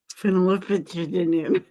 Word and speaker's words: Phenolphthalein: Phenolphthalein.